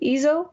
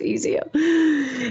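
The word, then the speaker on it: EIZO: Is that how you say it, AD? Ezo? That's my monitor. It's Ezio.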